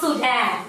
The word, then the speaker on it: Sudan: That's pronounced Sudan.